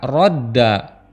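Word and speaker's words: رَدَّ: adalah rada yardudu namun Untuk meringankan pengucapannya huruf Dal yang ganda tersebut salah satunya diidgamkan atau dileburkan menjadi satu dengan cara mensukunkannya sehingga dibaca rodda begitu pula dengan lafaz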